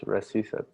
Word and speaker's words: recitative: Isn't it pronounced recitative? Recitative. It's Italian. C-I. It's pronounced "cha."